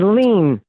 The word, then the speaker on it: Lean: It is Lean. Like don't lean on me.